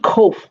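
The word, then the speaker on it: ק: So just like we have a difference between C and K in our English alphabet, so does Hebrew have a difference between kaf and kof, even though they sound like two different consonants.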